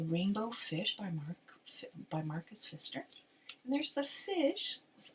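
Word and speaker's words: Marcus Pfister: by the name of Marcus Fister so it's p f i s t r but the p is silent English is such a weird language so it's Marcus um Fister wrote the the rainbow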